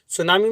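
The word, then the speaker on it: tsunami: सुनामी में T silent होता है, ये एक जैपनीज वर्ड है और जिसका मतलब होता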